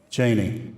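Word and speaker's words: Jaynie: again okay well um my official name is jane without the i but i go by janie so it's a nickname and i just spell it with the i so and you prefer it that way yes j-a-y-n-i-e yes cheney yes so for those that are out there watching we've cleared it up spell it right say it right thank you i think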